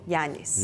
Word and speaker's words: Janis: asking you now about the right pronunciation of our name is yanis yanis yanis so in this part